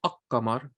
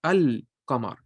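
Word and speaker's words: القمر: So the one for the qamar, because think about it, you say al-qamar. You don't say ak-qamar. You pronounce the lam. You say al-qamar.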